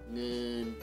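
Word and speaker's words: เงิน: Dibacanya ngen, ngen.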